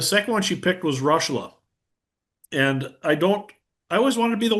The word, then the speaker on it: Russula: I've heard it pronounced Russula and Razula and Russula, Rochella. I heard a guy call it Rochella. I say Russula. However you want to is just fine.